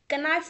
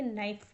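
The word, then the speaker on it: knife: है नाइफ मतलब चाकू क नाइफ नहीं पढ़ना है इसको आप कना नहीं पढ़ेंगे इसको आप पढ़ेंगे नाइफ के यहां पर क्या रहता है साइलेंट रहता है ध्यान रखिएगा य प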